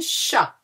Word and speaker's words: chat: Un chat. We don't pronounce the T, hein? Chat.